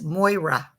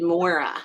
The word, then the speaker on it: Moira: with that name Moira it's Moira Moira fine she pronounced it Mora is he the Irish